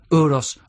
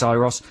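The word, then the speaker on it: Euros: on the breakfast show on whether to pronounce uros child's name uros or iros iros i think is we think it's iros uh this was recorded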